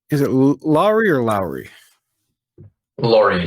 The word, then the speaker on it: Lawrie: it Laurie or Lowry Lori like a truck ah I see a